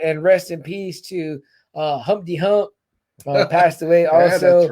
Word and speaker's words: Humpty: His name is Humpty, pronounced with an umpty.